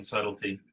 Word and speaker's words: subtlety: or I should say putting the in subtlety because you don't pronounce the b um his use of